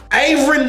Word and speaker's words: Aaron: GROWING UP WITH A NAME LIKE AARON IN the South WAS ALREADY DIFFICULT ENOUGH. ALL RIGHT? are like, "Aaron? Aaron? Aaron?